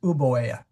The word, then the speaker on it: Euboea: My understanding is it is uboea.